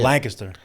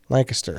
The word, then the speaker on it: Lancaster: uh Lancaster Pennsylvania Lancaster how do you say Lancaster Lancaster so I started right the first that's where